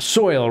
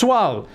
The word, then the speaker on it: Swal: You're Swal. Soil, right? It's pronounced Swal.